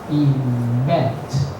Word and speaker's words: event: And a very big activity we called event, but not event. The stress is on the second syllable.